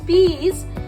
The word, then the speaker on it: peas: Also, when the E is with A, as in peas, peas, here A is silent. T. There is no roll of A here. Only we can hear the long vowel sound of E.